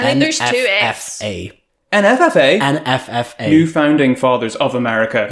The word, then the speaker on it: NFFA: They have that whole section in the First Purge where they have the NFAA. NFF. I think there's two Fs. NFFA? NFFA.